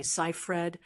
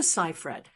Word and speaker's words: Seyfried: Today we're going to tackle the pronunciation of Amanda Cipher, a name that often gets mispronounced. You might be tempted to say Cyher or Cif Fred, but the correct way is actually scred with a long a sound in the first syllable.